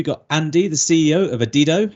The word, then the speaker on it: Adido: this conversation just before we went live it's pronounced adido uh I sounded like an idiot when we came on I was trying to get it right saying adido which sounds stupider the more I listen to